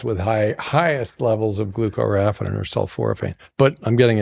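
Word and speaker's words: glucoraphanin: We're going to go to Jed for pronunciation. Glucaraphin.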